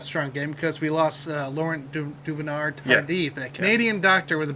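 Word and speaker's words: Laurent Duvernay-Tardif: So we do need Trey Smith to have a strong game because we lost Laurent Duvernay Tardif, that Canadian doctor with a broken hand out. Wait, how did you pronounce that name?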